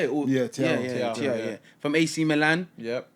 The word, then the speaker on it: Thiaw: Yeah, Thiaw.